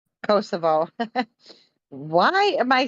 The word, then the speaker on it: Kosovo: thing there's something going on over there in kosovo kasov over crossover kosovo cosa thank you kosovo